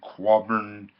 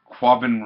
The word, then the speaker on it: Quabbin: the end at the carbon quadron okay and pronounce it correctly Quabbin Reservoir and I really like